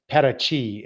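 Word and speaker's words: Paraty: the coast so it's it's spelled p a r a TY but it's pronounced Pachi and it's an old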